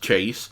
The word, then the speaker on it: CHVSE: comments and somebody actually port is pronounced chase and the comments at